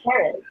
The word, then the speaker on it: Chiron: But I noticed in Wikipedia it says Chiron, pronounced K-A-R-E-E-N, which is my name, Karen. So it's like Chiron, that's how it's.